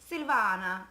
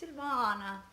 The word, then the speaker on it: Silvana: you guys don't know how to pronounce my name it's Silvana it's Italian that's why you have to do your hands like this Silvana we're gonna have three